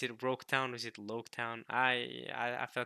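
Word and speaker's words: Loguetown: Wait, did you say Roketown? Okay, it's spelled with an R here, but I'm typically used to the spelling where it says Loketown, like with an L. But in Japanese, L's and R's, y'all know how that goes, right?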